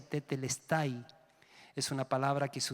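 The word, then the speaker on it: τετέλεσται: palabra consumado es una palabra griega que se pronuncia tetelestai es una palabra que se usaba para poner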